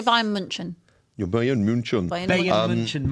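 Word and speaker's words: Bayern München: Probably because it's the correct pronunciation. But I actually say Bayern Munchen.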